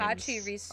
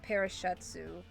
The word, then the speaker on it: Pachirisu: Pachirisu. I used to call it Parashetsu.